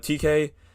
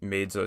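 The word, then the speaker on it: Tkay Maidza: But TK, spelled TKAY, and then Maidza, spelled Maidza. This song also features a girl named Carrie Fox, Jesus, Karifaux.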